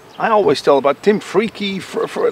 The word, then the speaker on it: Freke: And but I am Freak. It's how it's pronounced in England. It's Freak.